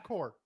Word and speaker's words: Corps: AJ, is it corpse or core? I'm sure the P is silent.